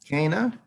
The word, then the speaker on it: Ghana: Kana, is that how you say it? It's Kana, Your Honor.